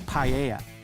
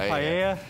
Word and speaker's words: paella: Matt is going to show us how to make paella, an exotic seafood dish with Spanish origins, with a little help from his daughter Zoella.